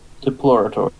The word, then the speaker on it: Diplorator: That's how I'm pronouncing it. Diploraptor? Diplorator is his name now. That's how you say it.